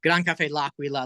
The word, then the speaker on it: Gran Caffe L'Aquila: But yeah, it's Gran Caffe L'Aquila.